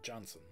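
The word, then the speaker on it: Johnsson: The rights to Ethan Sampson were traded for Andreas Janssen, or Johnson. From what I hear, he wants to have it pronounced like Americans.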